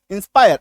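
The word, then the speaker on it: inspire: यानी कि जब किसी शब्द में आई आर ई आ जाएगा। उसके उच्चारण में आकार की मात्रा य र आ जाएगा। एफ आई आर E wire. W आई आर E wire. I एन एस पी आई आर ई इंस्पायर आकार की मात्रा य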